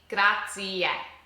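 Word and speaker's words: grazie: We have to pronounce that e at the end. So say it with me. Gracia.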